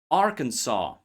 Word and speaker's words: Arkansas: Arkansas. Bourgeoa. Core. S is silent here too just as P P and